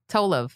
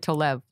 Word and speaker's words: Tolev: pretty good so wait I had the emphasis wrong on your name toll off' i said to love people but it's like for the reason americans say it differently they can't say Tola